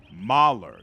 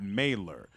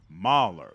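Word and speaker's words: Maler: importance to the Empire hmm FYI mailer is pronounced Mahler not mailer Mahler literally painter in German thank you and once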